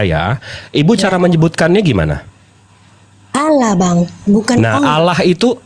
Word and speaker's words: Allah: alah a l Ah tapi kalau double l itu ada penekanan sama seperti double s dalam bahasa Inggris itu bacanya prepositions jadi z karena double s sama dengan double l itu jadi Allah l-nya dua jadi ada penekanan Nah kalau ibu mau